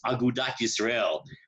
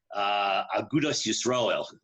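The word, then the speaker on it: אגודת ישראל: The only organization that Rav Kook ever belonged to was Agudat Yisrael, which is the ultra-Orthodox Agudas Yisrael, it should be pronounced, right?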